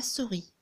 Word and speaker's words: souris: chasse et la souris mais le s on le prononce pas alors là normalement pour